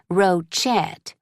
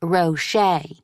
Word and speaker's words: Rochet: Every year, my teachers say my last name wrong. They say Rochett. I have to tell them it's pronounced Rocher.